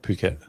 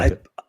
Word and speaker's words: Phuket: Phuket, not Yeah, fuck it.